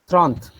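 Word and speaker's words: trente: yes yes yeah so wouldn't there be a bubble clash in tron so because no because we don't pronounce the last e tron okay the pronunciation of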